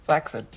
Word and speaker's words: flaccid: Flaccid. It's actually pronounced flaccid.